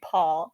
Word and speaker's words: Pol: is just Paul now it's not spelled like Paul it's p o l but it's basically Paul which is not like